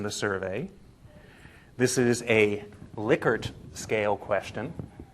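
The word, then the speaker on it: Likert: this is in the survey this is a liquer scale question how many people went no that's not how you say that word it's lyker the guy's name was rensis liquer l i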